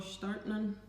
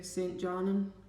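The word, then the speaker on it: Stjarnan: I'm playing for a team called Startnan, or as Emily and Adrian would say, St. Jarnan. Just makes it easier to pronounce it.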